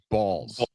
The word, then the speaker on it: Baals: I pronounce my name Baals."